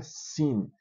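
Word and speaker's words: שׂ: Aí você tem o shin, quando tem um um pontinho aqui do lado direito, shin, e quando ele tem um pontinho do lado esquerdo, é sin, quem se lembra daquela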